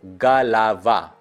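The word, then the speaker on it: голова: Stress mark जो है आ पे है, पहले दोनों ओ पे ही नहीं है, तो गलावा, दोनों ओ ही आ जैसा प्रोनाउंस होगा, गलावा।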